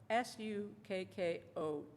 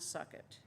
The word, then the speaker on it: Sukkot: That's spelled S-U-K-K-O-T. It's not suck it. Sukkot.